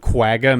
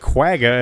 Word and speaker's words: quagga: high-pitched whooping sound that doesn't sound like quagga at all yeah there's no G in there maybe there's another way to pronounce it in South African Dutch that I'm just not understanding but I'm sure it's not that far off from quagga q a g g